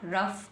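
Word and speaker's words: rough: र और ओ यूजी एच फ बन गया रफ क्या बन गया ऐसे ही लिखा हुआ सी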